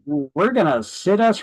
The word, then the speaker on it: situs: Thank Situs is people's preference for location. I mispronounce this often as situs.